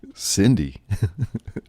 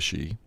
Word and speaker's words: sidhe: with something like that you may have a concept of the she but now you have a concept of the cindy well they're the same thing and i don't know